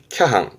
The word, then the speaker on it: 脚絆: 발음은 캬항, 캬항.